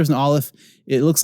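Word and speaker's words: aleph: first letter is an olive it looks like an expert it's not the the one of the crossbars doesn't quite meet in the middle and this is a silent letter it doesn't make a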